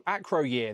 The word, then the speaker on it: Acroyear: So Acro Acro Acroyear, that's how you say his name.